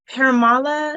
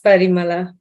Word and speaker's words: Parimala: Paramala, is that how you pronounce it? Yes, you're right. It's Parimala.